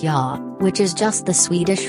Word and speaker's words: ja: In the maximum parts of Sweden, human beings say yes with a simple ja, pronounced ja, which is just the Swedish phrase for yes.